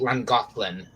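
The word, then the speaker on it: Llangollen: family as a kid it's called Lang golin three syllables 400 letters Wales is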